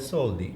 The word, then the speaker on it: soldi: um new wallets so we called it soldi we say it like that because soldi in Italian means money so craftsmanship and all